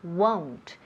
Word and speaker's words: won't: Pronunciación, won't. Esta O suena como si fuera una OU. Won't.